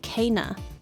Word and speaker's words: Kena: In the game, they pronounce it Kana.